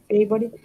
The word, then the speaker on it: favorite: Okay, favorite. One question. When you say sometimes favorite, what is the Favorite. Exactly. Oh, the pronunciation, or is that a different question?